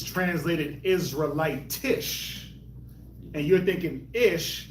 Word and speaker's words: Israelitish: Israelite Israelitish.